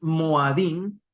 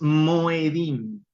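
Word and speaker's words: מוֹעֲדִים: Por eso es que es Moadim y no es Moedim.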